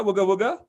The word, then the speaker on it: Wagga Wagga: tu viens donc d'Australie, donc d'une ville qui s'appelle Wagga, c'est ça, Wagga Wagga, si je prononce bien?